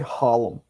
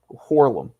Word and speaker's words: Harlem: We don't say Harlem. Horlem. That's how to say That's how you say it, CJ.